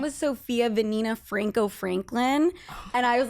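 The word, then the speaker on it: Vanina: actually a fun fact my middle name is venina which is a very Spanish name okay and it's spelled v a n i n a and I'm like a Sophia rhymes with venina right and then my last name was Franco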